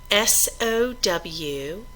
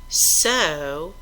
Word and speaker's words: sow: S-O-W can be pronounced sow, which means to plant seeds, or sow, which means an adult female pig.